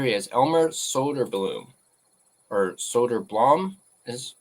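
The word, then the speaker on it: Söderblom: So here he is, Elmer Soderblom, or Soderblom is how you pronounce it.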